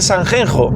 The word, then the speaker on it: Sanxenxo: Lo que está diciendo la gente de que en español no se puede decir Sanjenjo, sino que hay que decir Sanxenxo, es tenemos que imponer cómo se pronuncian las cosas en galego a otros idiomas.